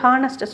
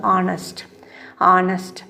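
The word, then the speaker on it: honest: இது பார்த்திங்கன்னா தி ஹானஸ்ட் மேன் சொல்லும் போது ஹானஸ்ட்டு சொல்லக்கூடாது, சரியாக ப்ரொனவுன்ஸ் பண்ணும்போது ஆனஸ்ட் HOUR சொல்கிற மாதிரி ஆனர்.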